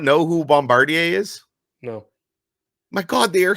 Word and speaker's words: Bombardier: loud my way um how do you saying Bombardier Bombardier there you go that sounds right I've always called them bombardiers and that's what everyone